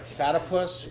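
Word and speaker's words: Fatypus: First off, I want to thank our sponsors, Fatipus Skis. Right. I got it right. Fatipus rhymes with platypus.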